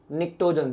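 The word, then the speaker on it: pnictogens: निक्टोजेंस जिसमें P silent रहता है, निक्टोजेंस, राइट।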